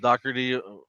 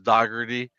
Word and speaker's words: Dougherty: like Chief did, but my last name is actually pronounced Dougherty from um, my dad's side of the family mispronounced it for a long time, and I brought back the Irish um, way of saying it, which is Dougherty.